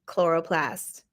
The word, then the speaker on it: chloroplast: before, but the ch we don't say the ch sound in science. I don't know why the ch always sounds like a k. Mitochondria, chromosome, chloroplast.